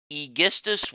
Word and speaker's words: Aegisthus: Oh, and her husband's cousin, Aegisthus. I'm told that's the correct pronunciation, so I apologize for the last video. Aegisthus was not trusted enough to be brought to war, so he was left behind.